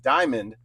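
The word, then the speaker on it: DYMan: For future reference, my name is pronounced Diamond.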